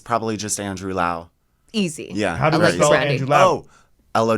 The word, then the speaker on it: Lowe: W either yeah it's not low by the way you like lows just like made everyone pronounce your name wrong yeah yes oh my ok there's people in my family who pronounce it low it's the weirdest thing really none of us know what's going on yeah cuz like my grandparents are like Lau yeah and we have